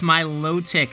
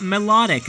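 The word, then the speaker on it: Milotic: That's my low tick, not melodic as some people pronounce it.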